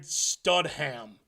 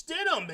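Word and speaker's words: Stidham: He he goes, "If Payton can win with Jared Studham, Can you even say his name right?" I mean, it's StDum, isn't it?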